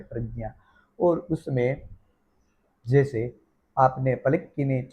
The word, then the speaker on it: प्रज्ञा: साकुला सुख यजुर्वेद प्रातिशाक्यम के अनुसार प्रज्ञा में प्र फिर आधा ज फिर विच्छेद रूप एक ज आधा रहता है और उसमें चंद्र बिंदी लगी रहती है लेकिन वह यम है जो अशरीरी है उसका उच्चारण नहीं किया जाता और फिर है च वर्ग का अंतिम अक्षर च ज्ञान यही ही शब्द बनता है और प्रज्ञा जो यम है विच्छेद रूप उनका उच्चारण नहीं किया जाता तो बन जाता है प्रज्ञा और उसमें जैसे आपने